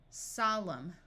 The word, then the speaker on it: solemn: coming climb climbing climber if you have MN at the end of a roote the N will be silent so this sound is m m Au says a Autumn column solemn if you have W